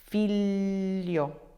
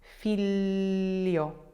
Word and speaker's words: figlio: Famiglia, figlio, figlio, figlio, coniglio, coniglio, coniglio, luglio, luglio, luglio.